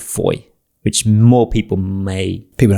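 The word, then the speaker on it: Fowey: I've been to Foy. So Foy is um spelled F O W E Y if anyone wants to Google it. It's not spelled as it's pronounced. Foy is a very popular harbor town.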